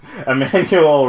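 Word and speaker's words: Emmanuelle: Emmanuel Riva from Amor.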